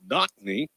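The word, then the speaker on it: Nakni: was not the Anna it's pronounced knockney but it's spelled n-a-k-n-i knock me Anna from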